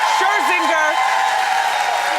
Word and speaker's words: Scherzinger: Scherzinger.